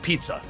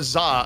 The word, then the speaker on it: ZZA: Za is like, actually, I want to be pronounced pizza. It's like, no, there's no P and I here. We are not pronouncing ZZA pizza. You are Zah until you change your name.